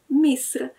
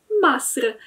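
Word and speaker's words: مصر: jest samo słowo Egipt, które w standardzie będzie brzmiało Misr. Natomiast w dialekcie egipskim będzie mówiło się Masr, czyli zamiast I mamy A. To słowo w pisowni wygląda zupełnie identycznie, natomiast inaczej się je czyta.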